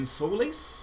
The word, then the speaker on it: Solaire: This is Solaire. Is that how you pronounce it? Solaire? It's Solaire.